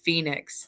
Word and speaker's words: Phoenix: My name is pronounced Phoenix."